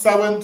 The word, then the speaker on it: Samhain: So it's spel but it's pronounced sin.